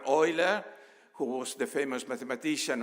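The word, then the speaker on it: Euler: mentioned already um the I'm using the German pronunciation Leonard Oiler who was the famous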